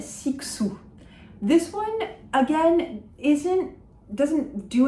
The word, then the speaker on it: Cixous: And Cixous. That X is a K-S sound, and we do not pronounce that final S of Cixous.